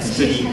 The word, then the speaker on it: studying: Donc, I am studying, mais il faut bien prononcer le ing à la fin. Studying.